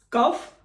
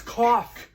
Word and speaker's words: cough: cuff, No, it's cough, off.